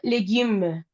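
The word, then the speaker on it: légumes: Excepto legum. La s no la pronunciamos la última letra. Y la U, recuerda que boca de U, pero sonido de I.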